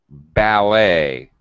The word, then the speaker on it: ballet: Buffet, ballet, the person who parks your car outside a fancy restaurant is a valet. Ballet. It sounds like an A-Y ending.